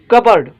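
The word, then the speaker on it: cupboard: जो मतलब आए घड़ी सवे नंबर वर्ड आए कबर्ड कबर्ड ठीक सोहते पी खामोश आए कबर्ड पढ़बो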